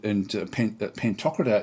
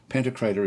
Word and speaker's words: Pantocrator: It's interesting because I did look it up, and Pantocrator is the British way of saying it. Pantocrator is the US way of saying it.